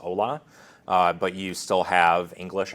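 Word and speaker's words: hola: spanish and it says ola but you still have english as a language then i might pronounce it hala instead of ola which is absolutely not what's intended unless you're you know getting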